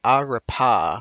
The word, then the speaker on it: arepa: It's Spanish, so arepa.